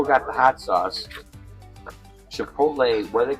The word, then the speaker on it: chipotle: be teaching me um chipot what you call that chipot chipot it's Chipotle it's Chipotle it's not spelled that